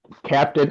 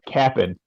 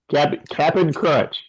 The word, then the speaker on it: Cap'n Crunch: I am eating Captain. Oh, I'm sorry. Cap'n. Yeah, say it right. Cap'n Crunch. Cap'n. Only the Cap'n.